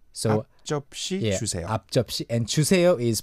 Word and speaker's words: 앞접시: I'm realizing right now that it can be tricky to pronounce 앞접시. 앞접시. 앞접시 주세요. 앞접시? So to break it down. 아저씨 주세요? No, you don't want any 아저씨 for your meal.